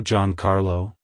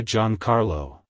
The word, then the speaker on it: Giancarlo: meaning it's pronounced as John Carlo John Carlo John Carlo to pronounce it correctly emphasize the e e sound in G and the ahr sound in car like hello John Carlo goodbye John Carlo if you found the